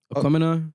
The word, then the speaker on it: Aquemini: pronounce it? Aquemini, Aquemini.